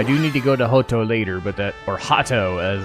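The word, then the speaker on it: Hotto: I could have just called it Hato and done it right. But oh well. I like me the Japanese pronunciation, yay!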